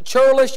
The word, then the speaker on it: churlish: But the man was, some pronounce this churlish, I pronounce it curlish, but the man was curlish and evil in his doings.